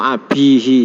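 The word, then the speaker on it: أبيه: Ini mestinya teksnya yang benar itu ismu abihi ya. Pakai iya bukan pakai wawu.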